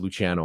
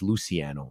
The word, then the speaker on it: Luciano: crazy so my my first name it's pronounced luchano obviously because it's Italian but living in Canada in an in the anglosphere it was always pronounced Luciano so I used to